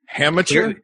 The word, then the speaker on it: amateur: Amateur? The H is silent.